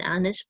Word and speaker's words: honest: For words that begin with the letter H, an is used if the H is silent, an hour, an honor, an honest person. A is used if the H is pronounced, a holiday, a hotel, a high grade.